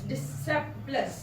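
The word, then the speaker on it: discipulus: हम यूनानी जुबान का लफज़ है डिसेप्लस। डिसेप्लस शागिर्द का जो यूनानी जुबान का लफज़ है वो है डिसेप्लस।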